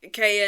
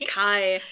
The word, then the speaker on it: Kai: I love that you say K. I don't know why you say K. Kai because his Kai is short for Malikai.